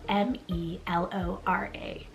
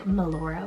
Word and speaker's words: Melora: So it's spelled M-E-L-O-R-A.